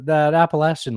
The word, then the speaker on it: Appalachian: Oh, this is that Appalachian lady. Oh, you know what? She's getting mad at how people pronounce it.